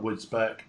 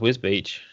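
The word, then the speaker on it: Wisbech: I want Yeah, to know why everyone calls it Wisbeach and not Wisbeck. Because it's just pronounced Wisbeach.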